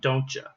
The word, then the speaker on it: don't you: like that um so the pronunciation sounds like a ch sound don't you wouldn't you like to go uh that kind of that kind of sound the ch sound the ch sound cha cha right and those tend to